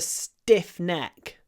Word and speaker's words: stiff: Maybe you know Usually, obviously, t is pronounced with aspiration t, but after s it's not. So, it sounds like that. Stiff. Stiff neck. A little pause and then diff.